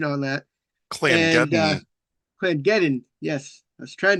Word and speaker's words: Clangeddon: He's a dwarven cleric of Clanagiddon. I've been actually looking up pronunciation on that. Clangeddon.